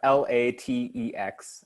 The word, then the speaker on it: LaTeX: so thanks ben for that yeah it's uh l-a-t-e-x uh it's pronounced latex can i say one thing on